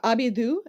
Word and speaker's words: ABIBOO: Can you talk a bit about now Abidu? Is that the right pronunciation? Avivo. Yeah, Abibo.